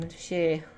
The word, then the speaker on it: Rishi: I'm Rishi. Yeah, like that. That is how you pronounce his name.